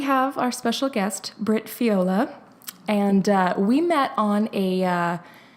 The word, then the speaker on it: Fiola: do you say your last name the correct pronunciation of your last name I feel laughs viola okay great I thought what I thought it